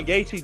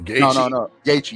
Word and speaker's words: Gaethje: And in the main event, you saw Gaethje do that a lot.